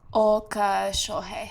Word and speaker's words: Oka Shohei: It's is it Uka Shohei? I have it right there. Oka Shohei. Oka Shohei. Okay. Oh, yeah. Okay. It's like an O and then you extend the O.